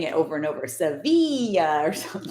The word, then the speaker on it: Sevilla: Sevilla. So, is that how you say it? Sevilla. Sevilla. And And everyone says Seville, I'm sure.